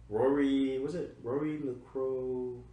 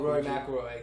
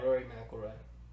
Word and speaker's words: Rory McIlroy: Was Lego Jurassic World, Batman, Arkham Knight, Minecraft, Grand Theft Auto 5, Rory LaCroix? Oh, Rory McIlroy. That's the golf game. Yeah. Is that how you say it? Yeah, Rory McIlroy.